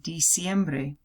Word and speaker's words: diciembre: septiembre Octubre noviembre in Diciembre also TCM it's not death siempre te see like it is in English it's D I see so the pronunciation has diciembre Diciembre okay next next